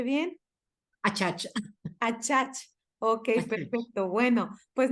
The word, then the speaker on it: Achach: Y pues bueno, el día de hoy estoy muy contenta porque nos visita la maestra de Acach. ¿Sí lo pronuncié bien? Achach.